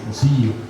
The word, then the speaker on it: cosijo: por Juan de Córdoba como cosijo, pronunciado de manera más fiel como cosillo, con una I larga.